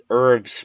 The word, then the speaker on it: herbs: to mix the herbs herbs with the silent h for all your retards